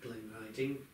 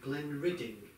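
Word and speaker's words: Glenridding: close full screen and actually I call it Glen riding the locals call it Glen ridding and probably that is the correct way to pronounce the village or town and uh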